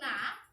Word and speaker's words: knee: আমাদের উল্টাপাল্টা অনেক কিছু মাথায় আসতে পারে, কিন্তু না, আমরা আজকে সঠিকটা শিখব। এখানে কে এন E double E মানে হচ্ছে নি।